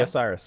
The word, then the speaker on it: Osiris: this one someone's going to help me here Osiris osus Osiris is that it yeah Osiris yeah Oh I thought it was way more okay Loft in the temple of Osiris uh is coming out on PlayStation 4 Xbox